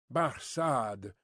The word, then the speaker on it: Barsad: the better his name Barsad said Defarge making it French by pronunciation but he had been